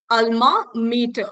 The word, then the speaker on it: alma mater: Isko aise padhenge, alma meter, okay, meter. Whatever it is pronounced in Latin, usse matlab nahi hai, alma meter padhte hain, theek hai?